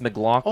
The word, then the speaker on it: McLaughlin: Well, didn't you say McLaughlin? I said McLaughlin, and then he said it's McLaughlin.